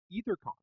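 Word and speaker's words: AetherCon: is a thing called ether Khan spelled with an A which is silent because we're not um and it is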